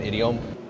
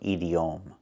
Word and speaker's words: idiom: We cannot pronounce a word like this. We do not pronounce it edom. It's pronounced differently.